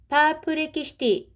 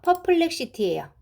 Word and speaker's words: 퍼플렉시티: 파플렉시티, 자, 요거는요, 퍼플렉시티예요. 미국의 퍼플렉시티를著作権侵害 나도대, 저작권侵害, 침해 등으로 대소시다, 제소했다. 다시 해볼게요. 니혼 케이자이 신문사와 아사히 신문사는 26일 AI 검색 서비스를 제공하는 미국의 퍼플렉시티를 저작권 침해 등으로 제소했다.